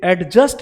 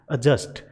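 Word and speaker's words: adjust: और फिर ये जो लास्ट वर्ड है इसे बोला जा रहा है एडजस्ट, इसे एडजस्ट नहीं बोलते, इसे बोलते हैं एडजस्ट।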